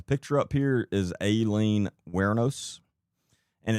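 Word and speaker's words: Wuornos: Is Aileen Wernos? And it's spelled, hold on, let me tell you how it's spelled. Her last name is spelled Wornos. It's pronounced Wernos.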